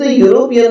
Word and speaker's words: European: शब्द यूरोपियन में स्पेलिंग की शुरुआत ई शब्द से हो रही है, लेकिन उसका उच्चारण यू से हो रहा है, इसीलिए यूरोपियन शब्द के आगे हमने ए आर्टिकल का उपयोग किया है।